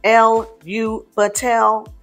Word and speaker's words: Elu Batel: So the name Elu Batel, which is pronounced L-U Batel, might be sung on a single note or 4 notes with 1 for each syllable.